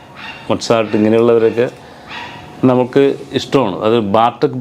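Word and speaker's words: Mozart: അങ്ങനെ ഓരോ പിന്നെ ഇത് മൊസാർട്ട് എന്നല്ല, മൊട്സാർട്ട് എന്നാണ്.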